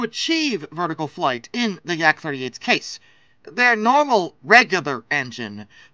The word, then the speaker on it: Yak: Or I guess, technically, the pronunciation should be YAK-38, but I've never met a single human being that says YAK. It's like with the MiGs. No one says MIG in their case. So Yak-38, whatever.